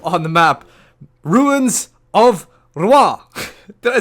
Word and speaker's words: Rouen: to say it, and the pronunciation from a French guy was Rouen. So I find it a little bit interesting. What happened to the, the O, U, E, and N? I mean, I can hear the R, but I'm sort of missing out the other syllables.